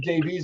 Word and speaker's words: Davies: I do apologize about you pronounced Davis and I said Davies, and I apologize about that.